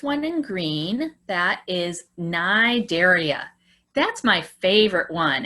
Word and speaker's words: Cnidaria: So starting with the first one in green, that is Cnidaria. That's my favorite one. It doesn't even sound like it's spelled. You don't say the C.